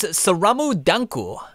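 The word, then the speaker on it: スラムダンク: Or as it's pronounced in Japanese, Saramu Danku.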